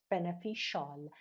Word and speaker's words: beneficial: حالا advantage، advantages، benefit، beneficial. حواست باشه CIAL همیشه شال چیز میشه، pronounce میشه.